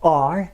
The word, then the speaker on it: are: Un conseil avant, pour are, n'essayez pas de prononcer un R. Il suffit de prononcer un A très grave.